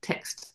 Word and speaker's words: text: When I say text, I've got to pronounce it properly, not tech, but text as in chat, web chat.